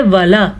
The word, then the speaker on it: وَلَا: اگر سادہ لام ہو تو وہ پڑھا جاتا ہے وَلا. یہ بھی اکثر لوگ سادہ وَلا پڑھ لیتے ہیں. الف مدہ کے ساتھ لام ہے تو ہم اس کو پڑھیں گے وَلَا تَجْعَلُوا.